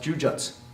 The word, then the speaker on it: jujutsu: You don't pronounce the ending jutsu. That U at the end, jujutsu, does go away, but it probably should sound something more like this, jujutsu, right, or jujutsu.